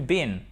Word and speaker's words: been: Donc, where have you been et a green bean, c'est exactement la même prononciation.